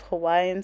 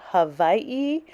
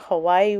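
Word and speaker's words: Hawaiʻi: I listen to native Hawaiian speakers I hear them say Hawaii where the W is pronounced with the V so it's hard for me sometimes because I you I'm used to saying Hawaii with the w so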